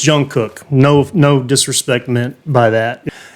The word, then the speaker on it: Jungkook: But I'm sorry, it's Jungkook.